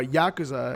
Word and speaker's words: Yakuza: Talk about Yakuza as well, or Yakuza as I've heard it pronounced.